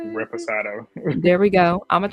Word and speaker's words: reposado: Reposado.